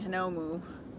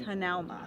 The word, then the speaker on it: Hanauma: Kevin keeps saying Hanomu. I do not. You say moo. Hanamu. It's not Hanamu. It's Hanauma. Hanauma Bay. Hanauma. We're having a hard time. Hanauma.